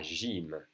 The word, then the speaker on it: gym: La gym, la gym. Pronounced like an I, really.